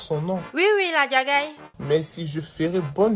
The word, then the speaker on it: Ladjagaï: Exactement, cet idiot de la Diagaï. Ah, c'est comme ça qu'on prononce son nom. Oui, la Diagaï.